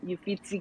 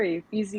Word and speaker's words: Uffizi: Yeah, under the, I don't want to pronounce it wrong, the Uffizi Gallery or Uffizi Gallery? Okay, Uffizi, yeah.